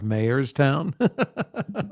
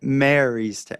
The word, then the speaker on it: Marystown: Oh yeah, I liked how you slipped up and called him the mayor of Mayorstown. How do you say it? Marystown. The mayor of Marystown. No, it just sounds like you're saying the mayor of Mayorstown, like a town of mayors.